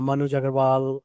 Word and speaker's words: Manuj Aggarwal: Find me on LinkedIn uh Manu Jagarval, the same name for uh my website.